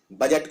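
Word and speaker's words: budget: काफी नायाब स्पेलिंग है बजट को ऐसे लिखते हैं अब ये गलती कहां होती है बजट में डी प्रोनाउंस नहीं होता डी का उच्चारण नहीं किया जाता तो बजट की लोग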